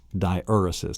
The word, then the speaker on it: diaeresis: Diaeresis, that's the correct pronunciation of the sixth mark, the diacritical mark.